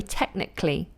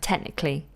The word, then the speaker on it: technically: Technically, so it would be technically, practically, automatically, mechanically, psychologically, and historically. It becomes what's called a lateral plosive. Cl, cl, cl, cl. It's exploding at the back of the mouth. Like that. Technically.